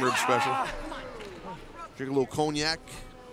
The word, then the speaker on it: cognac: special drink a little cognac i believe it's pronounced cognac all right where i'm from it's cognac because i know a lot of french people but i digress a lot